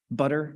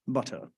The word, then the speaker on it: butter: duh as in zebra butter nobody says butter right you don't pronounce the T we call that a flap ladder right if you're English maybe you say be properly butter um but nobody says